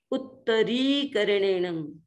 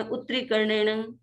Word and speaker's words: उत्तरीकरणेण: थोड़ा सा दबाव, तस्स उत्तरीकरणेण, ये री बड़ा है इसलिए हमको यहाँ पर दीर्घ बोलना चाहिए। उत्तरीकरणेण, कई बार हम बोल देते हैं फटाफट में उत्तरीकरणेण, तो ये अशुद्ध उच्चारण हो जाता है।